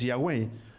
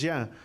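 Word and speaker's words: Yahweh: tú yo lo conocemos es yagüe el nombre corto o la forma corta de pronunciar el nombre de yagüe es ya por eso es que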